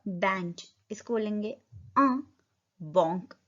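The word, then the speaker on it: banc: इसको बोलेंगे बॉन्क. ब बॉन्क. अ मैन. मैन को क्या बोलते हैं हम? ओम. एच साइलेंट रहता है बट यहाँ पे क्या बन रहा है?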